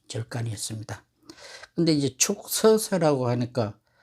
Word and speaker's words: 축서사: 근데 이제 축서사라고 하니까, 왜 축이라는 독수리 취자를 쓰고 한자로는 왜 축이라고 하느냐고 하는 분들이 많은데, 저는 이유를 잘 모르겠습니다만, 어쨌든 불교에서는 독수리 취자는 축으로 발음합니다.